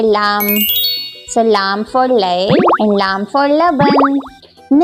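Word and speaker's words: ليل: It is Layl. Yes, this is Layl here.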